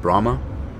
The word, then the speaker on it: Brahma: this was not bad Brahma like the bull but boy some of